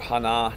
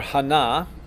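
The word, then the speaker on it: 하나: Korean the numbers are Hana the accent is on the second syllable most of us in nazma effete myself included up until some of my Korean friends corrected me would say Hana and it's actually Hana Hana okay so Hana tool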